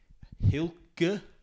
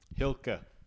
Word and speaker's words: Hylke: ago I guess uh I figured out how to say her name it's Hil Hil so because the first time I had no idea how to say their name hilka yeah okay so we